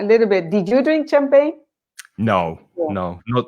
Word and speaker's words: champagne: grapes champagne and grapes so the g in champagne which of course is a french word is not pronounced in english pronunciation champagne champagne did you drink champagne